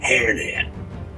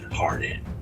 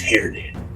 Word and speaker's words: Hairnet: That's Hairnet, the Green Hairnet. I'm sorry, Mr. Welch. I thought I heard someone pronounce it Hairnet. Yes, I've heard that too, but it's Hairnet.